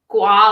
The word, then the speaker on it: gua sha: quick rundown of what gua sha is yeah and if i'm saying it right you are i always tell people it's gua like guacamole oh that's good yeah